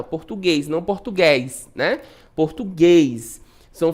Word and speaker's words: português: Português, né? Então, separação silábica, português. Qual é a sílaba mais forte? Português, ó, o guês é o último, né?